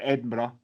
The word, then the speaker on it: Edinburgh: One thing that I'm glad, just going back a little bit there, Joel, is you said the correct pronunciation of Edinburgh, not like the Americans who say Edinburgh, and it's fucking annoying.